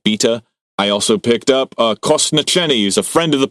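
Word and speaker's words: kostnatění: But Kosnacheni is it's ossification in Czech, and it's Kostnateni.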